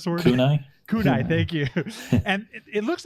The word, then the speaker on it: kunai: not that they're uh they're how do you pronounce the word kunai kunai thank you and it looks like there's a